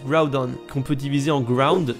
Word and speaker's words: Groudon: Pour Groudon, les japonais et les anglais le prononcent Groudon, qu'on peut diviser en